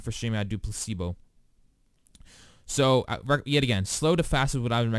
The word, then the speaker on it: placebo: a meeting about its I said it wrong I said play placebo or play see boo or something like that yeah I said play see boo but for Pacific placebo I would go ahead